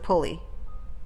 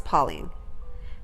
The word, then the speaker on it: Pauling: Excuse me, Your Honor, it's not Mr. Pulley. Sorry, it's Pauling.